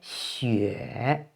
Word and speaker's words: xue: And this final is pronounced yue because it follows the initial xi. So xi, yue, xue, snow.